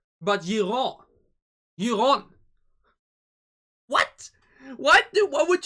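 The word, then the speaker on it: Yiren: she's written as y-i-r-e-n and how do we pronounce her not jiren but iran what what do what would you pronounce the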